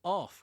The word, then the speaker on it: half: well it's got because no one ever pronounces the H in half as we as we'll we'll going into it a minute but you know I'm off crazy rather than half crazy there is there that